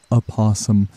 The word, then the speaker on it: opossum: It seems as though it is a bit of a misconception that the first letter of opossum is supposed to be silent.